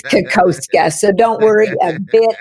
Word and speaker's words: Kokoszka: And the way you say my name, nobody can say it literally. It's Kakoska.